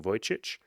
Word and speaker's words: Vujicic: He has a Serbian name and I never used to be able to pronounce it, but now I can. Nick Vujicic.